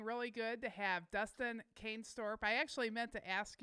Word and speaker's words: Canestorp: So, it's how do we it's pronounce it? Canestorp. Canestorp.